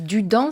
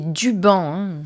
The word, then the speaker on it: Duban: Je vous ai dit Dudan, c'est Duban. J'ai mal prononcé, excusez-moi.